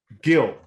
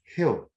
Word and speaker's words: Gil: off okay gladly louis gill here why did it say gil well some things are pronounced differently than the way they're spelled is it actually healed louise hill luis hill how that go that's